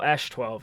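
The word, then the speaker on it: X Æ A-12: the baby uh no ash 12 is what it is the yeah it's spelled really weird at the beginning but it's pronounced ash canonically it's a hash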